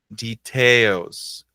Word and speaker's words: details: detail fala aí comigo details details essa aqui é é parecida né detalhes details pelo menos o acento aqui o a sílaba mais forte é a mesma né que é oils skiping